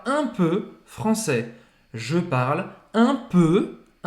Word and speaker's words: peu: Então aqui o peu vai ser a mesma pronúncia do je, eu, tá Peu, bom? je. Vai ser, faz a boca do O e fala E.